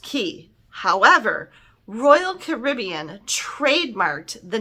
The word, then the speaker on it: Cay: But it is actually pronounced key. However, Royal Caribbean trademarked the name Perfect Day at Coco Cay, and they mean for you to pronounce it K because it rhymes with day.